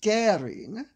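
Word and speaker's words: Göring: Reich Marshal Hermann Goring, it's spelled Goring but with an umlaut, so it is pronounced Goring, was born in the,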